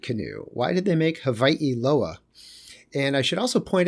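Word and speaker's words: Hawaiʻiloa: Why did they make Hawaii Loa? And I should also point out, in the Hawaiian language, the W is pronounced like in German, like a V.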